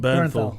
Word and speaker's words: Bernthal: Bernthal.